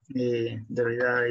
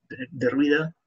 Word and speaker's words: Derrida: Derrida is the pronunciation in Italian. Well, Derrida, I think that it could be in English.